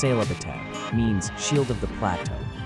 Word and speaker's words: Sehlabathebe: Sehlabathebe, Sehlabathebe, pronounced Sehlabathebe, means shield of the plateau.